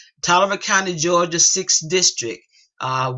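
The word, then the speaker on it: Taliaferro: 1873 he he says I was born in toer there's that spelling again cuz nobody know how to spell that t a l i a f e r r o they don't know it's pronounced toer toer County Georgia sixth district uh we bought up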